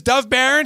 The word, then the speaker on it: Dov Baron: You know, the copy says pronounce it Baron. They put... All right, do not cut that part out. His name is Dov Baron.